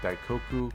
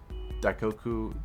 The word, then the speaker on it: Daikoku: But if you were going to see a JDM car show, the biggest recommendation would be Daikoku parking area. That's spelled D A I K O K U parking area.